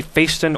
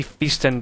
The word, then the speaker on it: Phaeston: So, guys, again, this is the Phaeston or the Phaeston, depending on how you'd like to pronounce it.